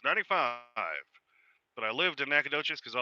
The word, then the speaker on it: Nacogdoches: lived in nacogdoches and i know how to say it because i lived there even though it's spelled nak hog duchess yep and worked in